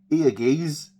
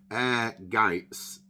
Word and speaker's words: Ehrgeiz: I mean, you could think Ergaze? No, it's not that either. It's actually Ehrgeiz with a T sounding. It's German for ambition, I believe.